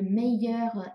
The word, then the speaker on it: meilleure: 那但是呢，它的发音是没有任何改变的哈。bonne meilleur 哈，比如说 c'est une bonne idée, mais moi j'ai une meilleure idée。